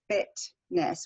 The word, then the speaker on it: fitness: actually pronounce so say in the word um Fitness we would say Fitness with a t they actually use a gladle stop they say fit fit right back here Fitness Fitness so British English